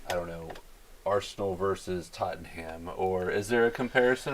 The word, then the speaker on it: Tottenham: First of all, tell Ryan how to pronounce those teams the right way. Arsenal. Close enough. And what did you say there? Tottenham. Tottenham. Yes.